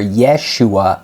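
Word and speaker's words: ישוע: yeshu okay yeshu or Yeshua is how Jesus's name is pronounced in Hebrew so that is referring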